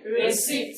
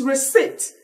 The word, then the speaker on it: receipt: You discover that someone said receipt here now. You discover that it is not receipt. It is receipt. Everybody say receipt. Receipt. Now, I circle out P. Can you pronounce that word now? Receipt. Again? Receipt. Good. It is wrong to say receipt.